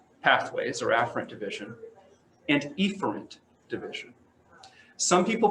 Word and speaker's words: efferent: split afferent and efferent i prefer to say afferent and efferent so we don't get the spelling mixed up and so that's that's how you can say if you ever hear it efferent it's not wrong it's just we like to say efferent so we can spell it correctly and so afferent consists